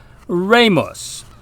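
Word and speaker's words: rēmus: r long e m u s and it's pronounced Ramos the short e sounds more like the enr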